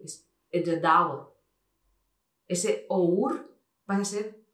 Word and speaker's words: Edradour: Y igual que es Edradour, no es Edradour, es Edradour.